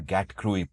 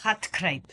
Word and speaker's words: gatkruip: I discovered this lovely term, gatkruip. Am I pronouncing it right? Hatkruip. Hatkruip. Oh, okay.